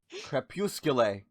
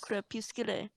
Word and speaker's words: Crepuscule: Crepuscule. Yes. Crepuscule.